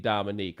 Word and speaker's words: Dominique: you may notice that I always call Dominique Dominique I always say all three syllables he does not like to be called Dom and there's only one neek and he used to